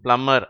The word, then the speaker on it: plumber: இந்த கடைசி வார்த்தையை பிளம்பர்னு சொல்லக்கூடாது. அந்த பி சைலண்ட். இந்த வார்த்தையில் பீன்ற எழுத்து, அதாவது நடுவில் ஒரு பி வருது இல்லையா, அதுக்கு உச்சரிப்பு கிடையாது. அதனால அதை என்ன சொல்லணும்? பிளம்மர் அப்படின்னு தான் சொல்லணும்.